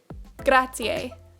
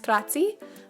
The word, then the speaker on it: grazie: Grazie. This is to say thank you, and a lot of people think that it's grazie, but it's actually pronounced as grazie.